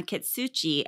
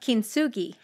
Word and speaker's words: kintsugi: moms over the years and has become a kitsuchi artist i'm going to need you to unpack